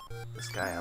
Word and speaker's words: Disgaea: Disgaea, like Gaia, Mother Earth.